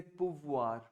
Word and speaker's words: pouvoir: Could you repeat the verb for me and say pouvoir? Pouvoir. Voilà, pou and voir. Pouvoir. Pouvoir. Exactly. See, OU is oo. OU का sound होता है ऊ का sound.